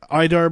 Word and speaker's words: IDARB: so I stop playing right uh I'll just idarb which I said which is actually probably the